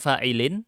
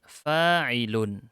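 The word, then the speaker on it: فاعلٌ: Hati-hati ya. Bukan fa'ilin bacanya. Fi mahalli raf'in fa'ilun. Di sini saya nggak mengharokati ulang yang sudah diharokati di atasnya.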